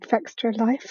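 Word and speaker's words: Fextralife: game, is someone called Fextra Life. I think is how you pronounce it. It's like Extra Life, but with an F on the front.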